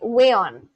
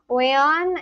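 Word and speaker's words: weón: Sorry, wayon. No, aeon. Let me see the pronunciation. Wayon in Chilean, wait, it just came.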